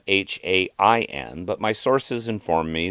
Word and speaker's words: Samhain: Now, the word is spelled Samhain, but my sources inform me that it is pronounced Samhain.